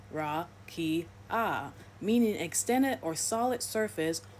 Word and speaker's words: rakia: In the Hebrew Old Testament, the word used for firmament is rakia, pronounced ra-ki-ah, meaning extended or solid surface or flat expanse, considered to be a hemisphere above the earth.